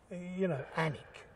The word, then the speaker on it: Alnwick: Sometimes the English language, you know, Alnwick. Where's the L?